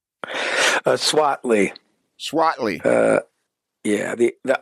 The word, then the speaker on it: Swaitly: The I is the I is silent. Uh uh. So it's S wi A T L Y. Is that correct? Yeah. Okay. Correct. So, it's Swat and then a.